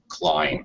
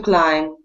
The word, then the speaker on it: climb: a long ey sound climb okay to climb yeah all right good job not pronouncing the B the B is silent yes you you did